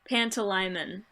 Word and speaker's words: Pantalaimon: Pantalaimon is how you pronounce it.